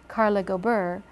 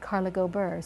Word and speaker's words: Carla Gober: first you know what Carla Gober has a more rolling sound Carla Gober so you're not stopped in the middle um we could we